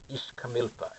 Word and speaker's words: Ixcamilpa: Ixcamilpa.